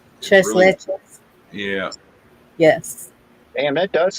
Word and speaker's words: Tres Leches: I like Tres Leche cake. That's Mexican cake. It's Tres Leches.